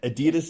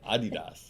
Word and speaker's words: Adidas: been saying it correctly Adidas is how we've I grew up saying it then I I came over here and it's actually Adidas if you and by